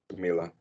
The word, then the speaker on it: Camila: Camila. Am I saying it right, Hmm. Camila?